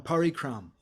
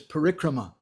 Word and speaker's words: parikrama: going to go on parikram i'm not sure what kind of benefit you'll get because there's no such word as parikram but it's parikrama if you go on parikrama so if we chant